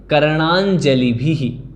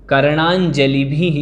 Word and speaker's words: कर्णाञ्जलिभिः: कर्णाञ्जलिभिः, कर्णाञ्जलिभिः इस प्रकार से पढ़ना है।